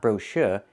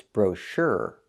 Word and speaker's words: brochure: Americans do not pronounce this word brochure. It's not brocher, it's brochure. We need that sound. We need the sound like in burger. Brochure, not brochure. Put the stress on the second syllable and make the sound like in burger with that voice.